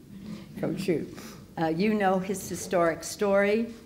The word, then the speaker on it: Kossuth: I’ve been calling him ‘Kossuth’ since grade school, through high school, for many years, and now I know it’s pronounced ‘KO-shoot.’ You know his historic